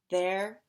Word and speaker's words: their: way so for example there as in there are rhymes with air and hair their air hair they as in they